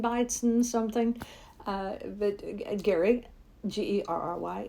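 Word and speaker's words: Gerry: Uh but Gary Ge Ry. It's it's spelled like Jerry, but it's pronounced Gary.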